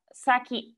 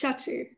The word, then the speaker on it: Shachi: wants to ask uh saki i'm pronouncing your name correctly correct me please i want to learn um it's shachi sachi okay so if you